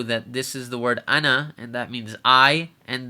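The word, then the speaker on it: أنا: the screen it's pronounced Anna we're not going to prolong the noon so we're not going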